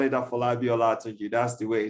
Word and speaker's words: Afolabi Olatunji: Well, yeah, we call it Afolabi OLATUNJI. That's the way it's been properly, rightly pronounced.